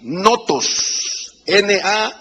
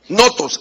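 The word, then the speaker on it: νόθος: El griego lo pronuncia el término bastardo así, notos, N-H-O-T-O. Notos, S. Notos, N-H-O-T-O-S.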